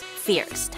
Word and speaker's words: First: After exploring Grindelwald, we ride a gondola to go up the summit called First, or it's pronounced locally as Fierst.